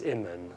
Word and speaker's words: Imen: In the language of Kemet, the word for hidden is Imen, or Amun is the way that we put it in English.